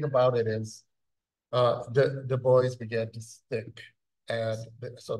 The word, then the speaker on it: Du Bois: the first thing is the boys as how it's pronounce now is of Haitian desent okay so it was